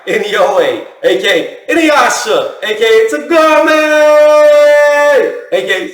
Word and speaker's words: Inoue: Inoue, a.k.a.